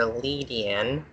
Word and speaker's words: Ledian: There's 4 different pronunciations for Lady. I call it Ladian, or Yeah, I call Ladian, or Ledian.